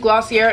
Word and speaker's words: Glossier: doing a full face a full face of glossy air I'm very aware that it's pronounced glossy a it just wasn't clicking with